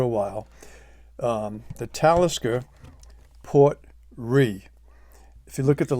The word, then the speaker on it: Port Ruighe: been around for a while um the talisker port re if you look at the label though it looks like it's Port rui or Port rug um but it's pronounced Port R and I